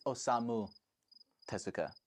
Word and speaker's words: Osamu Tezuka: It's Osamu Tezuka.